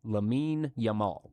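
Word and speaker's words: Lamine Yamal: Lame Yamal. Okay. Lamin Yamal once was bathed in a bathtub by Messi.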